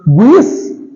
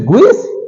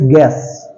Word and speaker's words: guess: Okay, next is guess. Guess, it is guess? No, it's guess, guess. U is silent.